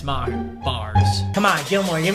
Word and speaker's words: Maher: It looks like me, but it's not. It's Maher, bars.